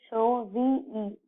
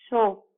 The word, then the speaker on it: shove: Next word is SHOVE. Okay, so that means shove, not show. Okay, so we should pronounce SHOVE as shove.